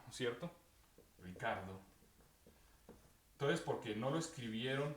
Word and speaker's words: Ricardo: R-I-C-A-R-D-O, ¿cierto? ¿Cuál es la manera correcta de pronunciarlo?